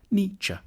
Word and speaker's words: Nietzsche: The first bit should sound like ni, the second like cha, Nietzsche.